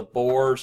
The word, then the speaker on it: boyar: They have a large and powerful landed nobility known as the Boers, and that's spelled Boyars, one of your vocabulary words that you were supposed to look up.